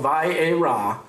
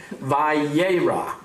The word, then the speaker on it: Vayera: This week's Torah portion is called Vayera, which means, and he appeared. I'm going to say that again because I didn't pronounce it right. Vayera, which means, and he